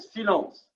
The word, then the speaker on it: silence: Silence.